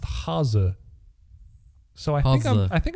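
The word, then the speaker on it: Hase: people will call it hace or Hasty or anything like that so we called it hasi which didn't really make a lot of sense to me I looked it up it's pronounced haza so I think I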